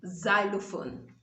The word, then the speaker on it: xylophone: it begins the words it takes the z sound so you have it in xenophobia this word is not x well i don't know if there are people who call it any other thing other than xenophobia and then you also have it in xylophone xylophone and then i discovered